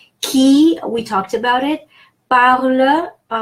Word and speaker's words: parles: Parle, I don't have much to say here. The only thing, the final S is silent, like our rule of thumb.